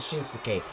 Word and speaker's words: Shinsuke: I said Shinsuke. That's how it's said.